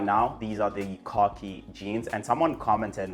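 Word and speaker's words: Khoki: These are the Cocky jeans. And someone commented like, "Why are you pronouncing the brand Cocky?"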